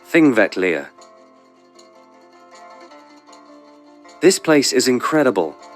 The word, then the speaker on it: Þingvellir: Last stop, Þingvellir National Park, pronounced Þingvellir.